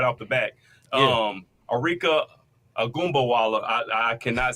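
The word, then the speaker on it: Arike Ogunbowale: No, it's Arika Agumbawala from Dallas.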